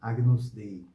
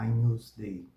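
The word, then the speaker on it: Agnus Dei: de Deus em latim tende a pronunciar agnos Day por causa de ugn em português er um encontro consonantal e diferente da pronúncia Romana aus Day que teria o som do NH em português ou um francês que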